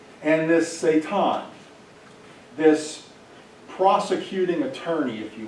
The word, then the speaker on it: Satan: This, and the pronunciation is Satan.